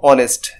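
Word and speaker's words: honest: যেমন দেখো এইচ তো কনসোনেন্ট, কিন্তু এর উচ্চারণ কি হচ্ছে, আমরা যদি এইচটা বাদ দিয়ে দিই তাহলেও দেখো অনেস্ট উচ্চারণ ঠিকই থাকছে, তার মানে এইচের উচ্চারণটা এখানে গোপন আছে।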